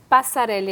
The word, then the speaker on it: Passareli: Estamos recebendo aqui a nossa querida Eliana Passarelli, é assim mesmo que pronuncia, doutora Eliana Passarelli, supervisora técnica dos programas de defesa da cidadania da Secretaria de Justiça e Cidadania.